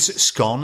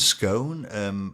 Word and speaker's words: scone: class almost garage yeah so with scone and scone what would you say Scott scone obviously I would say scone and this is how